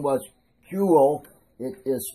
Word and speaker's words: Kuehl: It is a signature, and the guy's name was Kuehl. It is spelled K-U-E-H-L, one of the better clockmakers in Germany.